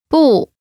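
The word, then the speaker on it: 不: together here am not pronunciation note when is followed by a fourth tone its tone changes from the fourth tone to the second tone listen to the pronunciation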